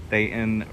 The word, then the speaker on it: Dayton: Marina, Diablo Colt, Dayton rhymes with Satan.